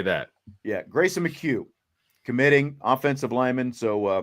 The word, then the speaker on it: McHugh: Mchugh. Is he say McHugh? Mchugh. Thank you. I think I said Mchugh. Yeah. Yep. It's a lot easier than it looks. I'll just say that. Yeah. Grayson Mchugh committing offensive lineman.